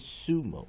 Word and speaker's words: sumo: 好，我们来看第一个单词 sumo。当然 sumo 呢是日文过来的哈。Late 19th century from Japanese sumo，所以它就是原音就是 sumo，所以它重音在第一个音节。所以我们看它的 strong syllable， strong syllable。strong syllable 是第一个音节，那第二个音节是 weak syllable。但是比较注意一件事情呢，我们先看第一个音节，它的 onset，